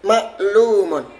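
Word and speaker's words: مَعْلُومٌ: Yang pertama di fathah. Yang kedua di sukun. Yang ketiga di dhammah, yang keempat di sukun lagi, yang terakhir di dhammah. Ya, maklumun.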